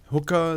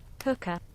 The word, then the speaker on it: hookah: it by the way hook hooker like because it has word hook in it right so let's see pronunciation Hookah Hookah yeah okay good which when